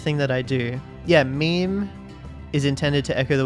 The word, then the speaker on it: meme: forgive me if I abbreviate my meme to meme. If it is any consolation, it would alternatively be thought of as being related to memory or to the French word meme. It should be pronounced to rhyme with cream.